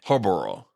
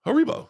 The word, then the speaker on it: Haribo: Harborough. Haribo. Haribo.